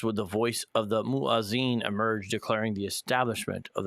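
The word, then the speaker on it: muezzin: How do you pronounce that word? Do you know? Oh, the Moazan.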